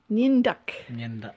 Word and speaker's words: Nyandak: Nyandak.